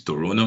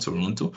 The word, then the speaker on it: Toronto: I think they said the t is second T is silent is Toronto not Toronto so I think Celia